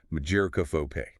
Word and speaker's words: mageirocophobia: And uh the pronunciation, according to the sources, is mageirocophobe.